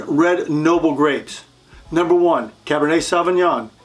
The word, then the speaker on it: Cabernet Sauvignon: are the nine red Noble grapes number one Cabernet Sauvignon it's from Bordeaux France again Cabernet Sauvignon Merlot from France Pinot Noir from France number